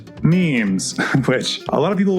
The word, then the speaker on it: meme: But Richard Dawkins is the one that coined the term meme, and he wanted a one-syllable word that was similar to gene.